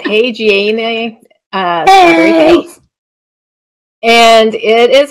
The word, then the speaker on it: haageana: So Gomphrena hagiene, I think is how you pronounce that, hagiene.